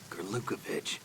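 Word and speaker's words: Gurlukovich: Gerukovich. One of Ocelot's allies. Okay, now we know how to pronounce that name.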